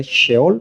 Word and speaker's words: Sheol: Sí, se escribe se se puede pronunciar sheol porque es s h e o l.